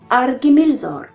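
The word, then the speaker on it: Ar-Gimilzôr: KH vaut R, le son allemand de ar, proche du R français. PH vaut F et TH vaut Th, le son anglais de bath, proche d'un S. Chez les voyelles, il n'y a pas de changement. Le E fait E et le U fait U. Le Y fait I. Ainsi, on dira Argimilzor.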